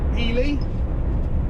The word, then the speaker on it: Ely: directions DS Smith Elie or Eli however you would like to pronounce it e y Cambridge